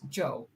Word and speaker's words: Zhou: Probably just Zhou. Zhou. Jump, Joe. Okay, so it's Joe.